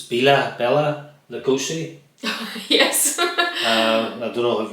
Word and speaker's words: Bela Lugosi: use slap here because I always say this name wrong. It's Bela Lugosi.